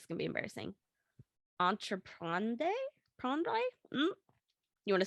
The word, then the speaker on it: entreprendre: Entreprendre? You want to spell that one? I'll spell it. ENTREPRENDRE. Oh, DRE is tough because it's like, it's in the back of your throat, yeah.